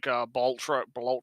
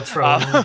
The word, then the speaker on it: Balatro: It also says something that games like Baltro, or I can't even fucking pronounce it properly. Balatro, yes.